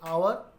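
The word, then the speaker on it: hour: Pronounce W where H is silent, like our, we don't pronounce H.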